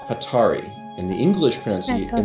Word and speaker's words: Hatari: I'm throwing up a pause here uh it's pronounced hatari in the English pron in the English they